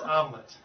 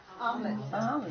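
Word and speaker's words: omelette: Omelet is actually French, but the way it's pronounced in English is om, A-H-M. It's spelled O-M-E-L-E-T-T-E. Why wouldn't you say it weird? When you see the word, you go, "What the heck is that?" But it's actually pronounced omelet. Omelet.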